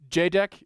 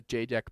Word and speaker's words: JEDEC: No, so their JDEC is the like one of the standards bodies for electronics components, and for all of the packages there's a JDEC package, but there is also a JDEC package